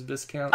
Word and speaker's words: Viscount: They had an argument about why is it pronounced it's Viscount. It's English. Again, English.